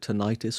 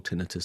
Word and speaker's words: tinnitus: And it was about whether you call it tinnitus or tinnitus, depending upon where you are in the world and how you pronounce it.